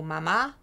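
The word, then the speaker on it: mamá: veut dire sein, et le mot mama avec l'accent sur la deuxième syllabe qui veut dire maman.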